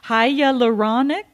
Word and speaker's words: hyaluronic: knows what i'm talking about because i can't pronounce it hyaluronic yeah that's it but just hyaluronic hyaluronic there